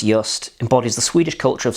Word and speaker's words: Jüst: dill flavoured gin from sweden pronounced just embodies the swedish culture